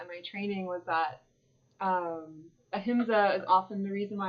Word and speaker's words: ahimsa: Ahimsa.